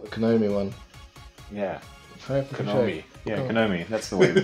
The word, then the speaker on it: Konami: Yeah, Konami. That's the way we pronounce it.